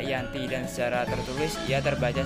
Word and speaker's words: Giyanti: yakni di desa Janti dalam pelafalan Belanda ia tersebut dibaca Yanti dan secara tertulis ya